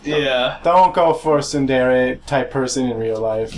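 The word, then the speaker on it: ツンデレ: Suendeer? Tsundere. Soon and dear.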